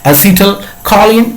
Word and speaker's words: acetylcholine: depression neurotransmitter is of two types when is acetylcholine and dopamine okay acetyl choline and dopamine are the examples of neurotransmitters it is pronounced as acetylcholine okay as hidden calling or